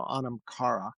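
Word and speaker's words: anam chara: And um and and I and I'll tell you the the way I was taught to pronounce it, the H is silent. So Anamara.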